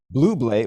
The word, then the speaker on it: Bublé: That's my wife was like, stop mispronouncing that man's name. It's not Bublé, it's Bublé. Bublé is real. It's like bubbly.